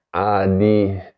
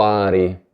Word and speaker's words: ADI: Adi, lo pronuncio bene perché in un altro video mi avete scritto, hai detto Ari. Non ho detto nessuna Ari, si parla sempre di Adi.